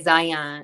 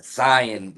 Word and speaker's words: Zion: Do I be saying your name wrong? I say Zion.